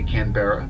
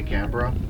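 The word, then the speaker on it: Canberra: the accent it's like the capital city canra they don't say canbera they say canra or uh the city of um cans not KS so it's just take the r out they do they take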